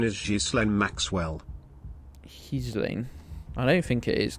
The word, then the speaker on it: Ghislaine: The official pronunciation or pronunciation is Ghislaine Maxwell. Ghislaine.